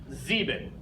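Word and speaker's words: sieben: one in this column zeebee zeebee okay again we have the S at the beginning that makes a Z sound our ie letter combination makes the e sound so we have Z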